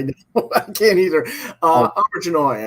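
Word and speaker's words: Auberjonois: um, Auberginois, I think, is how it's pronounced. Abiginoy.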